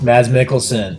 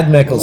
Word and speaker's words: Mads Mikkelsen: Mads Mikkelsen. Yeah, I haven't heard enough, so I say it wrong. Mad Mick. Yeah, Mad Mikkelsen.